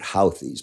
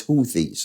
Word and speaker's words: Houthi: to say it right I call it hoies but it's houth all right I don't